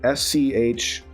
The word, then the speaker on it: Schroth: So it's called Schroth Physical Therapy, and let me just verify that I spell it correctly. Schroth, Schroth.